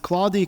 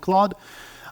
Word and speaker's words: Claude: Claude CL a u d I heard people pronounce it claudy Claude I call it Claude uh and here again I wanted to see